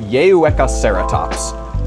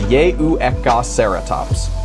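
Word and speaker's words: Yehuecauhceratops: small ceratopsid from Mexico and its name is pronounced yeka ceratops that's yeka ceratops really fun number four is a dinosaur whose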